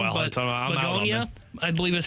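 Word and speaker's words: Bugonia: I'm not even sure how you pronounce this first one, Well, but I'm out on Begonia, it. I believe is how it is pronounced.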